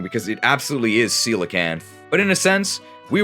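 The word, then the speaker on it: coelacanth: she said that the real life fish is pronounced cican I thought it was kakan like the rock well it turns out I was wrong because it absolutely is cican but in a sense we were both wrong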